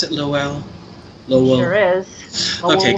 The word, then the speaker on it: Lowell: Is that how you pronounce it, Lowell?